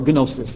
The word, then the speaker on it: gnosis: in the heoric T on nosis or gnosis as our beloved Bishop will pronounce the real experience of